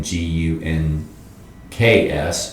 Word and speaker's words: Gunks: sh a w n g u n k s schwang guns Indian name name and uh it's it's pronounced up there just gunks everybody calls it the gunks it's one of the